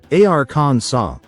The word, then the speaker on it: Arkansas: The official pronunciation of the state's name would be Ar Con. The law didn't change the spelling. It simply insisted that the final S remain silent.